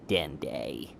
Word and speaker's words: Dende: it will say my name no super commie dende little green my name is den de I